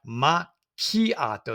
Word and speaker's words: macchiato: And we have macchiato, that's CHI, with a hard sound for that C.